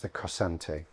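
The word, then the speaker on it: cossante: In this case, he's making an English poem in a version of a 13th century Spanish form, which I believe is pronounced the cosante.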